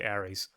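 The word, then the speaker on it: Aerys: his name is because it sounds like Aries from Aries, the god of war. Yeah. Um, except except it's spelled A R Y S. I think there's a Y in it. I remember that. It's it's spelled differently from what from the Greek way of saying it, but you are supposed to say Aries.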